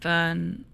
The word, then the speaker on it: Verne: at the end and Vern would have the same vowel sound as in English but the R and S are silent uh there's no s